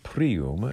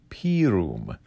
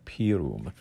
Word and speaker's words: pirum: the inside front cover it's not said utpiros prium it's said udpirus pirum so the word is p-i-r-u-m p-room so this is what